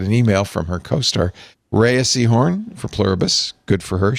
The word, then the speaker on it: Rhea Seehorn: Rhea Seehorn for Pluribus.